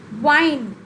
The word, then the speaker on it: whine: leave give up leave wine complain whine complain here w-i-n-e and w-h-i-n-e are pronounced in a same manner children wine and w-i-n-e